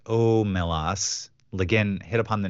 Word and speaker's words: Omelas: Wikipedia lein stated that the Sea's name is pronounced omelas lein hit upon the name of the town